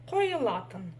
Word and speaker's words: қойылатын: Дальше видим букву И. Она в казахском языке читается коротко, в отличие от русской версии, но читается кое, кое, қойылатын, қойылатын, қойылатын.